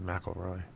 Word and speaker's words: McIlroy: McIlroy.